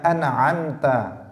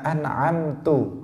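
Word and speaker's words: أنعمت: Kemudian contoh yang kedua adalah mengganti harokat fathah pada dhammahnya an'amta. Shiratal ladzina an'amta alaihim. Nah, ini enggak boleh diganti dhammah. Misalnya dia mengatakan shiratal ladzina an'amtu alaihim. An'amta diganti an'amtu. Nah, ini juga berubah total, karena dalam bahasa Arab kalau an'amta itu artinya engkau memberi nikmat.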